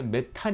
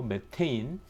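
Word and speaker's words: methane: 했었는데 어 우리나라 화 학교에서 rk 니라고 육식 발음의 버카 깝게 부르자고 해서 이제 이전에 메탄 이었는데 이제 메탈 아니고 매 테인 집에서 쓰는 프로판 께 쓰는 프로판 이 아니고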